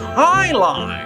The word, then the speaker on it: jai alai: against the bellows bloodhound Texas jai alai it's pronounced I love what the heck is highligh if you don't even know